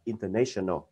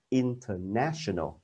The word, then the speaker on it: international: theo cái tự nhiên mình cũng đọc là International cũng là ai đó là cái phản xạ tự nhiên của mình nhưng mà phiên âm của nó không phải là International mà là International tức là kết trước a này nó không rồi không gặp lại đây